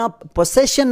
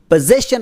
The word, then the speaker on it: possession: ಓ ಎನ್ ಈ ಪದವನ್ನು ತುಂಬಾ ಜನ ಪೊಸೆಶನ್ ಅಂತ ಉಚ್ಚಾರಣೆ ಮಾಡ್ತಾರೆ ಹಾಗೇನೇ ಇದು ತಪ್ಪಾಗುತ್ತೆ ಇದರಲ್ಲಿ ಲೆಟರ್ ಎಸ್ ಅನ್ನು ಶಬ್ದ ತಗೊಂತೀವಿ ಪೊಸೆಶನ್ ಆಗುತ್ತೆ ಸೊ ಪೊಸೆಸ್ ಪೊಸೆಸ್ಟ್